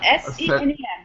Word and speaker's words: Senem: So it's Salim, right? Senem, that's fine. Senem, I'm screwing it up. I'm terrible. It's pronounced the way it's spelled, S-E-N-E-M, very easy.